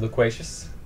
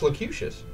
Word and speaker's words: loquacious: Were you trying to say the word loquacious? I've heard it pronounced locutious. Again, a name of a Borg. That's locute anyway.